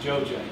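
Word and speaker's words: Dzodze: I know that starts with a D, but it's pronounced Joj.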